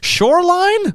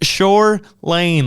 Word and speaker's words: Shore Lane: look up Shor Lane people always say it wrong whether it R gigs or anything like Shoreline or they're like sh Sherin like Shore Lane like beach shore and then Lane like a a road Shore Lane that's their